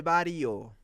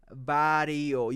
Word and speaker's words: Barrio: say Maria la del Barrio bario is Barrio it has two r's am I really teaching